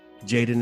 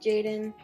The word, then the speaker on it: Jadon: and relax and learn from the youth jaden is how i pronounce it correct yeah jaden jaden that's good yeah okay oh is there